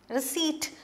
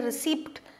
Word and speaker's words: receipt: slip then some receipts receipt this p is silent you don't say receipt it is receipt okay it's pronounced as